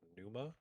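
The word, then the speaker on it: Pneuma: There's this puzzle game I played called Numa with a silent P.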